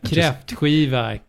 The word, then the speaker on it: Kräftskiva: How do you spell that? It sounds just like consonant. Kräftskiva, K-R-A with 2 dots, whatever that's called.